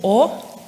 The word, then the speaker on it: Å: And it's tempting to pronounce it like an A, the A, but it actually sounds more like the letter O.